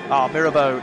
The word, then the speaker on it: Mirabeau: Mirabu hot. That corner. Mirabu. Mirabeau indeed so. The corner comes back to me now. With the right pronunciation.